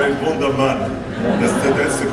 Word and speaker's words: Wunderman: I call it Wunderman. That's the correct pronunciation.